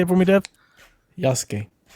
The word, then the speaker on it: Yasuke: Yasuke. Yasuke.